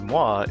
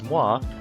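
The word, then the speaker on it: moi: Pronounce mwa if you insist. Askai. Uh, the way you pronounce mwa, it's kind of like blowing a kiss like a mwah.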